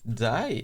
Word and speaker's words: dye: But dye is like die. What's the difference in these two words? They pronounce in an exact same way.